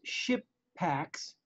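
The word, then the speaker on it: Shippaq: known about for ages um and it's it's ship packs that's spelled s-h-i-p-p-a-q um i'm walking by the booth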